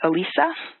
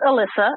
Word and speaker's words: Alyssa: start with what looks like maybe elisa uh hi it's alyssa um and i think